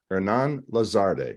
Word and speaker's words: Hernán Lazarde: delivery your host and my guest today is Hernan lazarde I hope I pronounced that correct yeah you got it right